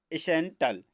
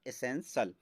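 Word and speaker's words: essential: पढ़ेंगे दोस्तों क्या एसेंशियल तो कुछ लोग इसको पढ़ते हैं सेंट्रल तो सेंट्रल आपका रोंग होगा तो इसका करेक्ट होगा एसेंशियल और उसी प्रकार यहां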